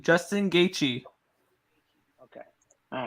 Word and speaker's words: Gaethje: Gaethje. Justin Gaethje.